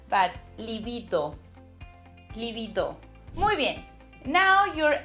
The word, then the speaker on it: libido: Remember the D sound, it's a bit hard, like in dentist. So not libido, but libido.